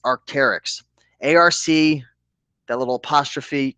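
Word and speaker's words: Arc'teryx: The brand is pronounced Arcterics. Arc, that little apostrophe. T R YX. Looks like this is the Fision SV style jacket. Large, great condition. Arcterics.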